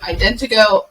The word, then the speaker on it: IdentoGO: the company that you work with I would mispronounce it it's Indigo Indiegogo okay you're close Morgan do you want to